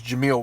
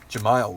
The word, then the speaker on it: Jemile: that result they lose Jameel weeks for a couple games Jemile weeks I think is how you say his name but that being